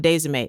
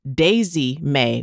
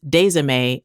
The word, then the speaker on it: Desime: And yes, I did say Aunt Desime. That's spelled what would seem like it should be pronounced Daisy May, but no. We're from North Carolina. That's Desime, and I can't argue with you about it.